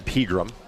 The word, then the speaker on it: Pegram: But Luke also did a great job of, when asking how to pronounce his name, really kind of extending the E's so we knew it was a long E in Pegram.